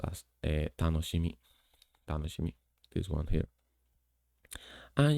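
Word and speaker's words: 楽しみ: Then there's this one, which is something fun or happiness, and is pronounced as tanoshimi.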